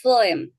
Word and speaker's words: phlegm: phlegm. flame. phlegm. 프, flame. 여기 발음 껴 있죠? 가래, 담, 그 다음에 침착이라는 뜻도 가지고 있습니다. MD는 G니까 발음 안 하는데 이때는 발음해요.